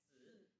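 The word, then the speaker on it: 四: four in Chinese it's pronounced as si, and then si is I very see.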